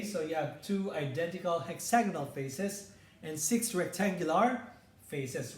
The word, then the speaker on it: hexagonal: say that again go hexagonal prism so the stress on the first and second syllables okay now we have